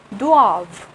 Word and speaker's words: doivent: We do not pronounce ENT and it's become doivent, and which means they must or they have.